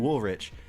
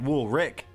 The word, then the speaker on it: Woolrich: a cooler name than Woolrich and it was it he actually pronounces it wool Rick that come to find